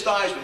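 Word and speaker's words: Theismann: Joey I said Dad listen how do you pronounce our last name he said it's thyman why do you ask that's the first time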